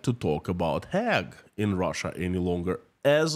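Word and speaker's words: Hague: news comes from hag I think I tackled down how to pronounce this word finally hag in Russian Gaga in in in in in my language my version of English used to be hog and now it's hag the new president of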